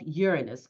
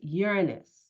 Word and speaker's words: Uranus: energetic electrifying planet of Uranus or Uranus. It's all about how you pronounce it. But for from this point on, you'll be hearing me say, as I've often said before, is Uranus.